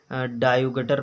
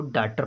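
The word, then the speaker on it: daughter: हैं कायुगट पढ़ लेंगे, इसको डायुगटर पढ़ लेंगे, डायुगटर। अब ये क्या है, गलत है। जब उसको उच्चारण प्रोनाउंसिएशन इंग्लिश में उच्चारण को कहते हैं, उसको अच्छे से प्रोनाउंसिएशन नहीं आ रहा है तब वो नहीं पढ़ पा रहा है। अब इसको कार्ड पढ़ेंगे, CAUGHT को कार्ड पढ़ते हैं। DAUGHTR को डाटर पढ़ते हैं।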